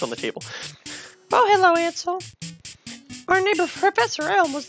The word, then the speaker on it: Ansel: And it's pronounced Ansel, like cancel, but without the C.